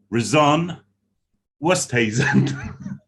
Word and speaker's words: Rizanne Oosthuisen: We have Rizanne Oosthuisen. Is that correct? You got it right.